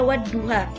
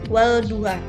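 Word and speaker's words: وَالضُّحَى: Jadi dibacanya wad-duha, bukan wal-duha.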